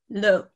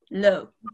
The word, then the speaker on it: l'eau: And it said, this is how you pronounce water. L'eau. L'eau. Okay. And then after that point, I was like, oh, okay, I've got it. Okay. Another one is it sounds a little bit like low, like something is low.